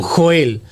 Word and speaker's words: Joel: Yo lo llamo Joel. Algunos le dicen Joel. Yo, como en mi Biblia sale con J, yo lo pronuncio Joel.